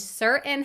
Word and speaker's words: certain: What do button, mitten, and certain have in common? They all are words that have one or more Ts that I don't pronounce.